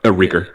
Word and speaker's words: RKR: I don't know if that's how you say his name. Yeah, Reeker. Is that Reeker? Okay. It used to be spelled Reeker. Yeah, I thought. Okay, yeah, that's right.